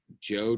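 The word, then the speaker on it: Zhou: you have the um joe dynasty it's spelled z-h-o-u but it's a hard j joe joe okay and then subsequently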